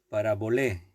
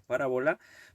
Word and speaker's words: parabolé: Exactamente la pronunciación en griego sería parabolé. Parabolé es griego y nosotros pues la acentuación la hemos cambiado un poco y decimos parábola, pero es la misma palabra, la misma expresión.